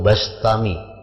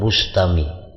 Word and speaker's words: Bastami: Yazid albistami atau albastami membacanya bistami atau bastami ya jangan Bustami jadi Bi atau ba karena dalam beberapa kitab ada yang membarisi mendabitkan bikasril ba bistami ada yang bifathil ba bastami Abu Yazid bastami atau Abu Yazid bistami